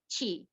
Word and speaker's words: Qi: My phone number, my name spelled like a QI, Chi. is. I always have a joke. You know J-Lo? I'm Chilo. Easy for them to remember.